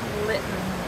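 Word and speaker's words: Lytton: we're corrected specifically by the guy in littlewood Litton remember because litten lit on fire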